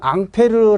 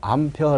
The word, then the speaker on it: 앙페르: 이제 정리가 되었잖아 가지 법칙을 이야기할 때는 앙페르 라는 표현을 써야 되지만 그 지 어떤 단 이라든지 이런거 편할 때는 뭐라고 하면 되겠어 아 미국식 발음으로 암표 라고 해주면 되겠고 그죠 음 자 요런